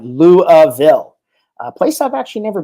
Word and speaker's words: Louisville: It's pronounced Louisville. That's right, Louisville, a place I've actually never been to.